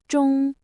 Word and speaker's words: 中: Its pronunciation is zhōng.